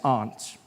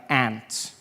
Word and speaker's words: aunt: For instance, I pronounce the opposites of uncle as aunt. I say my aunt." Out here, you say my aunt, which to me is an insect.